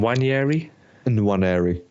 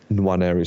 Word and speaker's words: Nwaneri: Nwaneri. So it's Nwaneri. So NWA. Is the end of silence? Do you still have to pronounce the end? Yeah, you still have to. Everyone is pronouncing the end, but I thought the same thing.